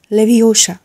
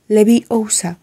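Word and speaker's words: Leviosa: হঠাৎ চিৎকার করে উঠলো গার্ডিয়াম লেভিশা হারমিয়ন বলল ভুল হলো তুমি ভুল উচ্চারণ করছো এত যদি জানো তাহলে তুমি নিজে উচ্চারণ করো হারমিনের উদ্দেশ্যে বলল হারমিয়ন তার গ্রাউনের আস্তি ঘটালো এবং দাদুর দন্ডটা বের করল তারপর উচ্চারণ করল গার্ডিয়াম লেভি ওসা তারপর পালকটা টেবিল থেকে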